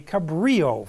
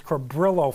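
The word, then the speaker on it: Cabrillo: generate something called a Cabrio file yes years ago I pronounced it as cabillo file and I got corrected that's not it's Cabrio file you can find more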